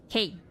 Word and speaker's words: Kane: Oh, your name's pronounced Kane? Gotcha. Kane. I'll try to remember that. If not, then feel free to remind me. Kane is like shortened for canine.